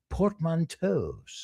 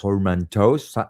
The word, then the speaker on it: portmanteau: I don't know if I'm pronouncing it the French way. I'm pronouncing it the Yeah. American way.